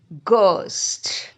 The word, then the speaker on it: ghost: So I hope you remember when the GH at the beginning of a word, it is sound hard G, ghost.